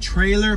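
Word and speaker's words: Treylor: We got Trailer Park Hitch. Wow, trailer. Not spelled like the normal word trailer, but like Trey, T-R-E-Y-L-O-R. Trailer Park Hitch.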